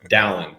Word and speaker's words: Dallin: I always have to tell people it's Alan with a D, Dallin.